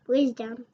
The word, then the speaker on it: wisdom: Wisdom. Ah, so the S sounds like the Z. I got it. So some people might think that they should spell it W-I-Z, right? Yeah, W-I-Z-O-M or W-I-Z for Wiz. Gotcha. But we spell it W-I-S, right?